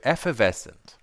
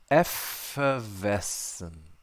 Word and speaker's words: effervescent: okay okay effervescent effervescent here's how it's broken down in the in the phonetic symbols so we have e as in bed e e e f e f f f there's the schw again the always creeping up that schah sneaky little schw so yes e e